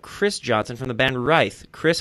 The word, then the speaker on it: Writhe: today we have Chris Johnson from the band right Chris how you doing a pretty good how's